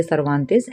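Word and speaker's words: Cervantes: तो देखिए, ये स्पेन की राइटिंग है, तो इसके जो नाम है, इसके जो प्रोनाउंसिएशन है वो थोड़े डिफरेंट होंगे। हम जैसे इंग्लिश में प्रोनाउंस करते हैं वैसे नहीं होंगे।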